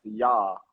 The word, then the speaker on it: Jai: And then J is actually pronounced Yah in West Indian, and it stands for victorious.